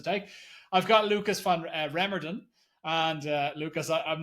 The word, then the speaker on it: Remmerden: I've got Lucas van Remdan and uh Lucas I'm not sure if I completely butchered your name there but Framed.